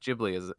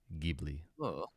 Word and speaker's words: Ghibli: uh gbt uh that i do the soft g for ghibli oh wait yeah i